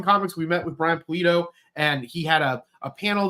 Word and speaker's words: Pulido: Is Brian Padillo? Is that how you pronounce his name? Brian Pulido, yeah. Pulido. I said the last name wrong.